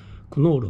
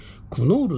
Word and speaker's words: クノール: コンスターチですねクノールっていうのも日本語なんですねこれノールですよね兄は髪を得ぬの前の計を発音しないという風に学校で習いましたのであのーです